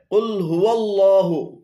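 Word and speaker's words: قل هو الله: এখানে কুল হু এবং আল্লাহু উভয়টি ভুল উচ্চারণ। শুদ্ধ উচ্চারণ হবে কুল হুয়াল্লাহু, কুল হুয়াল্লাহু।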